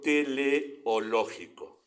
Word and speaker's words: teleológico: esta palabra pero búsquenlo es interesante el argumento teleológico Sí así se pronuncia científicamente ese argumento es más fácil lo